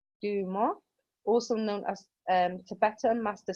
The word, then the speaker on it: Dumo: This symbol is pronounced Duma, also known as Tibetan master symbol. It represents the swirling, fire and heat of Kundalini. And Dumo or Dumo, fire is the heat which ascends